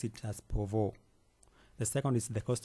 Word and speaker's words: Pouvoir: I will pronounce it as Pouvoir.